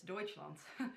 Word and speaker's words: Deutschland: is from hijab deutschland i hope i pronounced that deutsche lund deutsche land deutschland yes deutschland so um i will